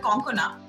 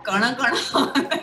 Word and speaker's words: Konkona: have to say that a lot of people pronounce my name incorrectly, so it's always, instead of Konkana, it's always Konkana or Kana Kana.